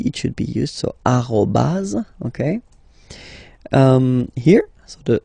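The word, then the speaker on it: arobase: the other one so officially we called it arobas arobas okay but then well let's be honest we can hear many French people or French speaking people using this at okay uh but then the French of course at all right but officially it should be arobas okay so don't be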